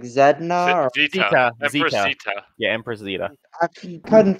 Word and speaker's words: Zita: Zita. Yeah, Empress Zita. I couldn't figure out how to pronounce it.